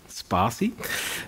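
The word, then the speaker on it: Spatie: I'm a developer at a company, and here's the pronunciation. Spassi.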